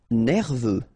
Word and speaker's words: nerveux: Nerveux. Final X not pronounced.